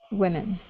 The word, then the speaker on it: women: here yeah okay so instead of we women okay with a wee sound use the short e women women okay so young men